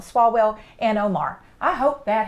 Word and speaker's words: Swalwell: these crazies like shifts swallow well I always say his name wrong swalwell and Omar I hope